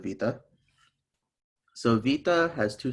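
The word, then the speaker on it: ⲃⲓⲇⲁ: letter so this letter the old name is wada now we call it vita so vita has two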